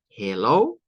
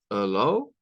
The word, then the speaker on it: Hello: que parte del tema tiene tres estilos diferentes de pronunciarse Hello Hello y Hello ya depende de cómo quedamos sonar Bueno claro aquí nos dice